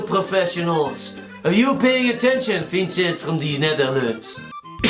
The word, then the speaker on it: Vincent: It is Vincent, it is French.